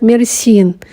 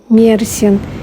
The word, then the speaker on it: Мерсин: Часто я слышу, что город называют Мерсин, но в Википедии поставлено ударение на Мерсин, и местные жители тоже город называют Мерсин.